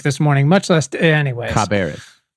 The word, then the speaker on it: Cabarrus: Caribas County is a perfect example of what we're fighting for.